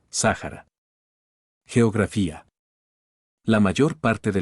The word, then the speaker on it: Sahara: en un taut topónimo cuya pronunciación más cercana es Sahara geografía la mayor parte